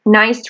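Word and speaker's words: gneiss: or fairy cave is nice rock it's spelled g-n-e-i-s-s but it's nice rock and nice rock is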